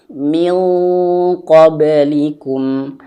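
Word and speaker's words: من قبلكم: eng tapi dia tebal min qoblikum la'allakum tattaquun nah seperti itu ya teman-teman. Nanti teman-teman kalau misalkan jumpa seperti ini nun mati jumpa dengan qof, maka tebalkan eng-nya minqoblikum.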